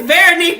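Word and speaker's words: Véronique: We got comedian Veronique, and it is very French, and you can roll your R's to say it, honey. Give her praises. Go ahead, say it correctly. And it's Veronique the comedian.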